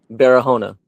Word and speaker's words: Barahona: Barona.